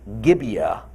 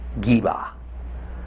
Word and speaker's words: Gibeah: In this case, what we in English say as Gibeah is actually more pronounced something like Geba. Geba.